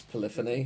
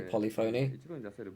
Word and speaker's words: Polyphony: cool that's really cool it's also really weird to hear the studio pronounce polyphony because I always say polyon but yeah it's not